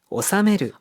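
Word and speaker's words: 納める: 자 납입 납품하다 또는 회비등을 물다라고 할 때는 오사메르 오사메르니오다키 거래처 무진마시다 하면 거래처의 상품을 무사히 무탈하게 납품했습니다. 자, 이렇게 회비등을 물다 또는 나쁜 납입하다 할 때는 오사메르라고 읽습니다.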